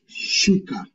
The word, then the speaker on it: shuka: So in Swahili, you say shuka. Shuka. Shuka or shauri. Shauri. Shauri. So, like the same way you pronounce the letter SH in the word sheep, that's the same way it's pronounced in Swahili.